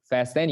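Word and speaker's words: fasten: এখানে মাঝখানে টিটা সাইলেন্ট, ঠিক আছে। ওকে, তোমাদের জীবন থেকে যেমন মনোযোগটা সাইলেন্ট, আমার জীবন থেকে যেমন শান্তিটা সাইলেন্ট, তেমনি হচ্ছে এখানে ফার্স্ট টেনের ভেতরে টিটাও সাইলেন্ট।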